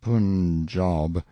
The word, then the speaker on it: Punjab: letter one day from the Punjab you must pronounce it punjob the handwriting was excellent